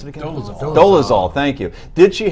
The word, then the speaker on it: Dolezal: On Friday, NAACP officials stood by Miss, how do you pronounce it again? Dolezal.